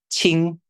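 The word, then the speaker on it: Qing: g it's so uh in Mandarin it's called ching ching ching that's right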